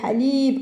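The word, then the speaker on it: حليب: On allonge le son de i, pardon. I ici, il joue le rôle de voyelle pour faire le son de li, mais en allongeant le i, li, comme si on a plusieurs i, li.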